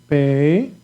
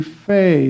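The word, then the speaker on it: פ: Okay, pay. This pay, like pay, exactly. Sounds like the P, okay? And exactly this letter without the point in the middle is going to be fe. It's going to sound like F.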